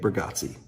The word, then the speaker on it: Bargatze: Nate Bargatze.